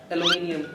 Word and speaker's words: aluminium: and there is yeah aluminium we call it aluminium and aluminium but in america they call it aluminum aluminium aluminum something similar but they don't say aluminium okay okay so i